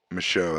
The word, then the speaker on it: Michaud: Michaud. And that parking lot also has the car show. Is it Michaud or Michaud? Michaud. That's right. There's no D. It's silent. The D is silent.